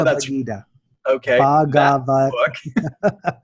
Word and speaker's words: Bhagavad: Bhagavad. Bhagavad.